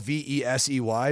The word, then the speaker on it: Vesey: I know it's spelled V-E-S-E-Y, Jimmy but Vesey. I'm going like V-E-E-Z-Y.